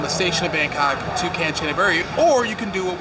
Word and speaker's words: Kanchanaburi: The name of the city is Kanchanaburi. At various points through this video, I am going to mispronounce it live.